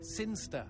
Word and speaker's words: Sinchester: It's pronounced Sinster.